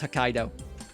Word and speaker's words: Hokkaido: Okay, I was hoping that I would hear the pronunciation on that one to make sure I nailed it. It is Hokkaido.